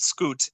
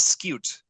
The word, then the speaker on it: scute: It is not scoot. It is scute. Cute. Scute. Yeah. It's cute and precious. I don't know. Yeah, I don't know why that made me laugh so hard, but yeah, the correct pronunciation is scute.